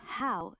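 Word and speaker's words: 好: Ni is like knee, and how sounds like how, but with a little rising bell on the O. So you're basically saying ni how.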